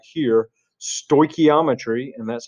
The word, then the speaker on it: stoichiometry: before, if you hear this word right here, stoichiometry, and that's how it's pronounced, stoichiometry, they might slide into cold sweats and have night terrors and all kinds of stuff like that.